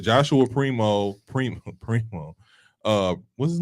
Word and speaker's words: Primo: like I said Joshua Primo Primo Primo uh what's his name Primo Prime let's go Prime Primo it is primo you said it right it's Primo Primo